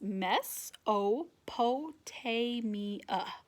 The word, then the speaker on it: Mesopotamia: home was in ok this helps me pronounce it I'm pronouncing Mesopotamia and spell it's pronounced mess Oh potay me uh his home was in Mesopotamia part of this ancient